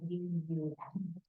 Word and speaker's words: VAM: The Bija mantra here is VAM, V-A-M, pronounced more like V-U-M.